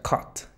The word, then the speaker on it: cut: ahí te puedes confundir este verbo se pronuncia Cut que es cortar y gato se pronuncia Kent Sí hay una diferencia ahora seguimos con el